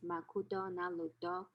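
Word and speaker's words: マクドナルド: if your friend said makudo naruto please understand it means mcdonald's okay as the video shows mcdonald's is pronounced as makuto nalu in japanese just as birthday is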